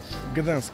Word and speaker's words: Gdańsk: Eh, Bramsko, comment on prononce le nom de la ville? Gdansk.